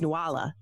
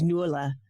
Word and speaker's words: Nuala: and I was like, her name's Nuala. And then they started talking based on, how it was written. And then they start talking and I said, nope, they're Irish. There's no way their name is Nuala.